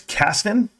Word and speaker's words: Caston: And I want to say his name right. It's Caston. Caston. Have you checked out David Caston?